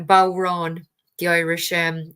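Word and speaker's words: bodhrán: that um oh I I I put the pronunciation anyway in a comment for you it's bow Ron the Irish um it's basically an Irish shamanic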